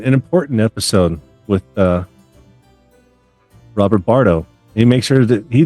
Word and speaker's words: Bardo: He makes sure that he thought I called him Barto. No, I know it's Bardo, Bardo. I don't think Yeah, he couldn't hear lots me of so people. well. So at the end, Yeah, lots of people spell it Barto, don't yeah, they? You see it online when they're going, Robert Barto. It's like, no, it's Bardo. It's Bardo.